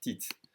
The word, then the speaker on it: petite: And remember that the E's without an accent that are in second position of a word, second sound of a word, are going to be swallowed in French. So petite is really going to be pronounced petite.